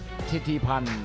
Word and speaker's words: ทิติพันธ์: Titipan. Is that how you say it, Mark? Give it to me again. Titipan.